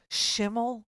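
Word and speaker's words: Schimel: A guy I think his name is Shiml, rhymes with Kimmel, but has nothing to do with him.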